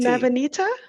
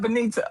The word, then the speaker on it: Nabanita: Nabanita? Not Benita.